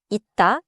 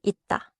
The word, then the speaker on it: 있다: But before a consonant or before a pause, 쌍시옷 받침 closes like a 디귿 type stop. For example, 있다 is pronounced 있다.